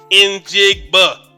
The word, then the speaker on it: Njigba: Njigba. The N's not silent.